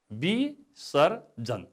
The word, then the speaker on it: विसर्जन: अब यसको उच्चारण, यसको शुद्ध उच्चारण विसर्जन। यहाँ व छ, तर हाम्रो उच्चारणले ब गर्छ, त्यस कारणले उच्चारणमा ब नै हुने भयो, विसर्जन।